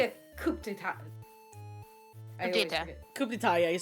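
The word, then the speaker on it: coup d'état: Coup d'etat, yeah, you said it right.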